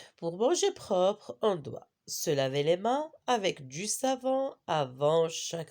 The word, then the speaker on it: main: Main, on répète ensemble, main. Le deuxième mot, ananas. Deuxième mot, c'est quoi? Ananas. Qu'est-ce qu'on a remarqué? Dans ce premier mot, la lettre N, on ne la prononce pas.